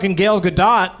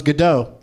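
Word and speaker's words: Gal Gadot: matter no I finally learned Gale gadot just from hearing them say it on SNL the other night I always thought it was Godot right she's Israeli it's good not yeah don't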